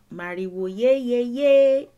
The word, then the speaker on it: Mariwo ye ye ye: That is how it's said in Cuba. Mariwo ye ye ye.